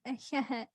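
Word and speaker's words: Ahéhee': Oh, echiahet. Oh. Echiahet is how you say it in Navajo.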